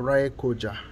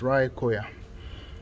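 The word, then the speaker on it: Raekoja: remember english-speaking people that in this part of the world the letter j is pronounced as y so this is not ray koja it is rai khoya so it says town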